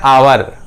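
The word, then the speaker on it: hour: H silent होके ये sound निकलता है आवर।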